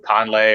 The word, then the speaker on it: Kahnle: they have a healthy Tommy kahnle or calmly hour it's pronounced they picked up Adam